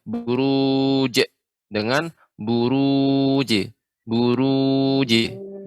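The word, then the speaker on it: البروج: ya Ibu Murni gym qalqalahnya pengucapannya tidak boleh adanya henti suaranya Buruj atau bertanya suara eh dipantulkan Buruj Buruj huruf wuji seperti itu ngojek J bukan J ya perhatikan bedakan dengan adanya Hamzah di akhirnya Bru je dengan Buruj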